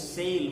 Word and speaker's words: sale: l which is sale when you say sale sale a you make a sound like a between s and l one vowel is there but two vowel sounds are made when we pronounce a e and more interesting thing is the e that comes at the end the character e he is not sounded we don't pronounce this e at the end we don't say or no this e remains silent and this a is